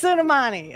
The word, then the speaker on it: Soleimani: Suleimani. It's Soleimani.